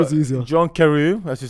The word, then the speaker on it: John Carew: Jon Carew.